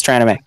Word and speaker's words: Tranime: you on the spot, Tran Anime. I'm sorry. We're going to need more people like Tran Anime to... Tranime. What? We pronounce it wrong. It's Tranime. What'd I say? You said Tran anime.